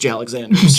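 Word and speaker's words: J. Alexander's: I haven't been to Jay Alexanders you know what I mean Jesus everyone knows Jay Alexanders this is where the Savages time first of all it's pronounced jalexanders jalexander in and- out it's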